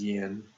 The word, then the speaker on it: yin: Yang and this is Yin and say yin and yang yin and yang are a little bit closer to the Chinese pronun um pronunciation of it now yin and yang